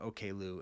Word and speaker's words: Oklou: really great work and he was pronouncing it okay Lou and that that was correct and so I didn't